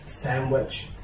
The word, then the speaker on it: sandwich: cannot pronounce her to D if it comes after n such as sandwich sandwich sandwich and for something handsome